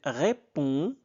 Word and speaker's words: répond: Sans hésiter, il ré répond d ne se prononce pas. Il répond avec enthousiasme.